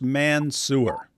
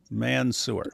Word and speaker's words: Mansour: However, his name is pronounced Mansour. Mansour, just so you know.